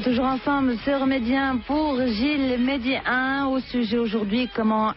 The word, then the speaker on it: JIL: Gilles, ça s'écrit J-I-L.